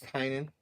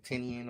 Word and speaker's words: Tynan: Like once I figure out that it's Tynan, I stop saying Tinian or whatever else people say.